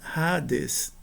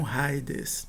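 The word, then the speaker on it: ᾍδης: E a gente não pronuncia de fato o iota, a gente pronuncia rades e não raides, né? Então aqui eh é como se o iota inexistisse.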